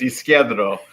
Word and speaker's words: Isquierdo: Oh, well, and as my grammar rolls over, I can't pronounce it either correctly. So it's Isquierdo, which is left in Spanish.